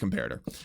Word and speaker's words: comparator: Next step is we need a comparator, all right? I keep calling it that because it's funny, but it's actually pronounced comparator.